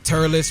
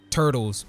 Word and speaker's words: Turles: And just as a sidebar, I can't be the only person who used to pronounce his name Turtles back when I was a kid. I mean, let's be honest, if you look at this man's name real fast, I think you'll end up pronouncing it Turtles too.